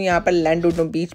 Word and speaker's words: Llandudno: और जनाब मैं मौजूद हूँ यहाँ पर लैंडुडनो बीच पे। इसे एक्चुअली मैं प्रोनाउंस कर रही हूँ एज अ लैंडुडनो, बट the British and द वेलिश people, mostly the वेलिश people pronounce it एज अ क्लैंडुडनो, double L pronounce as